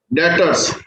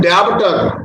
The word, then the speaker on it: डेटर्स: इसमें बेटे B silent रहता है, इसको हम बोलते हैं डेटर्स। बच्चे कुछ बोलते हैं डेब्टर, डेब्टर नहीं बोलते इसे, ये गलत प्रोनाउंसिएशन होती है डेब्टर, बी साइलेंट होता है, डेटर्स बोलते हैं सीधा।